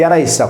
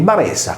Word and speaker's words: Baressa: Quindi Aressa, come viene detto dai propri abitanti, Baressa contiene la consonante B iniziale inespressa.